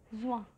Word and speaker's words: juin: Juin.